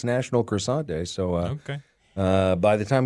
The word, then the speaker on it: croissant: Croissant. You have to say it like you're having nasal problems.